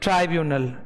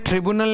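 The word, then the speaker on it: tribunal: ठीक है, decisions of court oblique ट्राइब्यूनल, इसका प्रोनाउंसिएशन ट्रिब्यूनल नहीं है, ट्राइब्यूनल है, क्या है, ट्राइब्यूनल, ओके।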